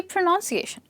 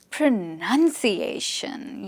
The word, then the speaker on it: pronunciation: It comes from the word pronounce, so it should be pronunciation, isn't it? Not really. Are you sure it's pronunciation? No. This word is pronounced as pronunciation. Yes, this part is pronounced as pronunciation. You know, English pronunciation is so tricky.